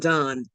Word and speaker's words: Don: His name wasn't Don, that was his title. It's actually pronounced Don.